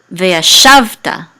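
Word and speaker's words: וְיָשַׁבְתָּ: right here right so this is via savta okay that's how you say this word with the accent in this syllable via shafte and and this means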